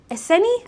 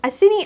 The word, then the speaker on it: Iceni: So, Queen Boudica, if you didn't know, she was She's like a queen of the Ic- Iceni? Icini? I I always feel like I'm saying it wrong. Queen of the Iceni.